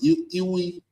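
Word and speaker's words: ewe: How you pronounce it? Ew.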